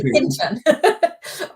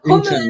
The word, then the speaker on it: Hintern: That's almost a nice French pronunciation, but it should be Hintern. Hintern, yeah.